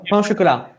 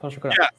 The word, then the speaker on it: pain au chocolat: No, how are they pronounced in French? Oh, pain au chocolat. Pain au chocolat.